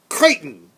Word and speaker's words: Crichton: he pronounces his name he says Crichton rhymes with frightened and you know at